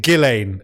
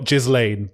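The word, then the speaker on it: Ghislaine: I just got to say, isn't it Gileain? Is it Is it Is it I'm sure it's Gileain, not Gizlane, but So, so I've heard Gilain. I've heard Gillain. I've heard Gizlane. Uh your friend and mine, John Sweeney, says Gizlane.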